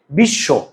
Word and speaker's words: বিশ্ব: তহলে এই তটা দুইবার হবে দেখত বিশ্ব তুমি বিশ্ব বানান লেখো তো এইযে বিশ্ব লিখতে